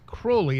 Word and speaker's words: Crowley: and for everyone who knows, it is Crowley, and Crowley used to say rhymes with holy.